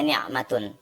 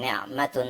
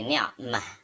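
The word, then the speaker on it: نعمة: Kalau dibaca lengkapnya ni'matun. Ini juga ni'matun, ya. Tetapi kalau dibaca di bagian akhir kata, kita tidak membacanya ni'matun tetapi menjadi ni'mah.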